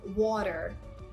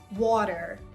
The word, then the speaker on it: water: For example, the word water. Water. So I'm not pronouncing da. Instead, I'm pronouncing my T as a very soft D. So it's water.